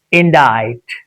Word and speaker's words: indict: When it becomes silent, simply we have to use this to pronounce. It's indite.